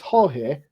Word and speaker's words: Jorge: How do you say it? It's Jorge. Jorge Jimenez. Jimenez.